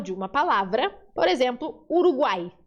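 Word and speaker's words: Uruguay: uma palavra, por exemplo, Uruguai, termina com Y. Uruguai. Aí tem som de I, tá vendo? Sempre. Você nunca vai falar Uruguai, Uruguai, Uruguai. Não existe, porque Y tá tendo som de vogal ali.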